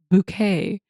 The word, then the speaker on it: Bucket: living next door to hyacinth bucket pronounced bouquet and ever since then